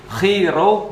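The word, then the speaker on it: Chi Rho: bacanya dalam bahasa Yunani X itu bacanya khi ee P itu bacanya Ro Jadi kalau XP khiro Bacanya adalah Christ artinya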